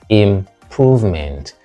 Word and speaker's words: improvement: Most people pronounce this correctly, by the way. I hardly hear improvement. Sometimes I do, but it is improvement.